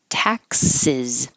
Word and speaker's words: taxes: could sound similar to taxes so that doesn't I know it looks like an X but it sounds like a KS and it looks like